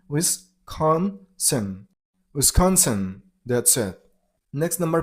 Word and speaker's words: Wisconsin: Stress on the middle syllable, on con sound, Wisconsin.